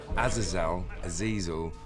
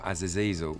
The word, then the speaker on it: Azazel: I play Azazel, or Azazel, depending on who you are and how you pronounce it.